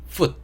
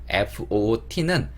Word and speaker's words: food: 발음하실 때 조심하실 거는 F로 시작하기 때문에 이 소리로 시작을 하셔야 된다는 거. food 이렇게 마지막에는 또 D로 끝내주셔야 돼요. 디귿 소리로. 그래서 food 이렇게 발음하시면 안 됩니다. 왜냐면 foot이라고 발음을 하게 되면 foot 이거의 발음이 돼요. 그리고 foot는 발이란 뜻을 가진 단어거든요. 그러니까 food라고 발음을 안 하시고 foot 이렇게 발음을 하시게 되면 발을 얘기하는 게 되는 거니까 조심해서 food 이런 식으로 발음해 주시면 좋을 것 같고요.